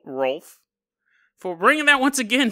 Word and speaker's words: Rolf: oh damn it to Rolf sorry r o LF so it's like wolf but with an r in front of it